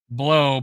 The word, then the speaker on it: Blau: David Blau pronounced Blau really does Blau blow pronounced blow really does blow but he's looking great